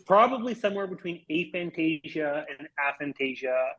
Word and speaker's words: aphantasia: and so that's actually so a Fantasia would be the technically correct way that most people will